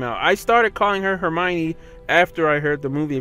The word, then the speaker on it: Hermione: I was mispronouncing everything remember back then when we used to call Hermione heran or Herm one I remember like that